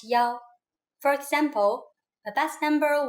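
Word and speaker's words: 幺: numbers and so on we pronounce one as Yao for example a bus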